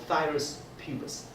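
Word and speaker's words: Phthirus pubis: It's called thymus pubis. pH is silent.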